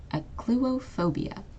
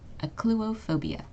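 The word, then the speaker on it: achluophobia: with fear of darkness this is pronounced aop phobia okay a phobia notice how the CH makes a hard C Sound and the pH makes a f sound okay aop phobia does anyone want to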